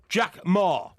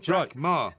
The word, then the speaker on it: Jack Ma: And number 10, Jack Ma. Jack Ma. As in, tell me ma, I don't want no tea, no tea. What? We're going to Wembley. Tell me ma. It's spelt M-A.